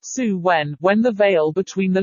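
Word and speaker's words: Samhain: back to the Celtic celebration of sound pronounced suwen when the veil between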